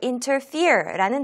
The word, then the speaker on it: interfere: 오늘 첫 번째 함께할 단어는요, 바로 interfere라는 단어입니다. 자, 우리 같이 한번 발음하면서 익혀보도록 할게요. interfere, interfere, interfere. 강세가 이음절에 옵니다.